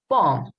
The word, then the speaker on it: bomb: Bomb, doubt. I didn't pronounce the B in here.